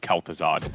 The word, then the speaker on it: Kel'Thuzad: I'm pretty sure his name is just Kel'Thuzad. I don't know what those extra syllables were for.